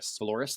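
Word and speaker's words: Valoris: Trajan Valorous, how do you say it? Valorous, thank you.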